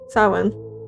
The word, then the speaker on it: Samhain: It's Celtic, I believe. So the pronunciation is not an English pronunciation, so it's not quite what it looks like.